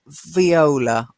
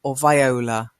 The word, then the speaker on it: viola: it string yay and viola viola so violin viola viola the same as I can pronounce viola and we all eyes both are correct I've heard both and I think down